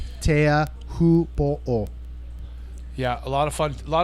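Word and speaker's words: Teahupoʻo: That's a great history, but for the lazy Americans, we've opted to just say chopes. And everybody knows what you're talking about, but the proper pronunciation, if spoken slowly, Tea Hupo'o.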